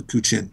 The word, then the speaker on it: guqin: So one of the instruments in Chinese music I really like is called a guqin. It's spelled G-U-Q-I-N.